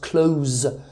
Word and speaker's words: close: If this word is a verb, it's pronounced with a Z. The pronunciation of the S changes into a Z, so it's pronounced close, like close the door.